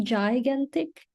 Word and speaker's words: gigantic: Ini bukan gigantic, tapi gigantic. Gigantic.